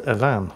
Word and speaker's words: Even: name of the designer his name was probably pronounced evan because he's french but we all call it even because that's what it looks like and the 90 comes